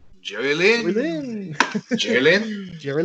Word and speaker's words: Jerry Lynn: James, you didn't say his name correctly. It's Jerry Lynn.